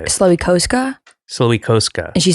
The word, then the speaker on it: Slowikowska: Well, because in Polish, it's Słowikowska. Okay. And then in English, we both just have made up phonetic pronunciations. So how do you say it? Slowikowska.